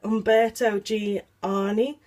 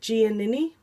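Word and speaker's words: Umberto Giannini: I used to call it Umberto Gianni, but I think it's like Giannini or something like that.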